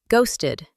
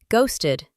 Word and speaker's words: ghosted: Ghosted. It starts with a hard G sound, like go, then rhymes with boasted. Go on, say it with me. Ghosted.